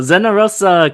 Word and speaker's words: Zenarosa: And he is my cousin, Daniel Zenarosa. And it's Daniel Zenarosa coming live from Hawaii. Oh, very good. Nice pronunciation.